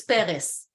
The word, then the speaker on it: Peres: No, he's not Latino, it's Peres. And Benjamin Netanyahu, aka known Bibi..